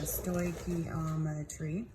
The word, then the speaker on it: stoichiometry: notes for general chemistry, and this is Stoichiometry 101, and this is just an introduction to the discipline of stoichiometry. And I wrote this out right here. This word is pronounced stoichiometry, and there's going to be 3 parts to these notes.